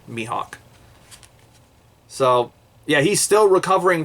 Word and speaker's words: Mihawk: my mihawk gave him i've been told that me it is pronounced mihawk so i'm going to i'm going to pronounce it mihawk so yeah he's still